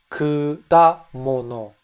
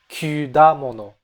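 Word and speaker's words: くだもの: 우롱차, kudamono. Not kudamono and not kyudamono. That's a pronunciation that I hear French people often make.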